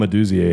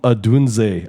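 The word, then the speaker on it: Odunze: I could absolutely see Rome Aduzie having himself a fucking game. What did you say? Rome Adunze. I can't pronounce his name. Adunze. Yeah. You said Oduzie.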